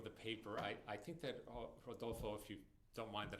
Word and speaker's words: Rodolfo: I think that, Rodolfo, if you don't mind that I call you by your first name, and I know that the R should be like an H, Rodolfo.